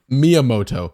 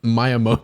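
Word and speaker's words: Miyamoto: He pronounced the name wrong. It's Miamoto, not not Myiamoto.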